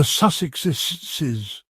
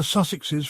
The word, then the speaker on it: Sussexes: While talking about Harry and Meghan, Oprah jokingly mispronounced their name, calling them the Sussexesses. She added extra syllables for fun.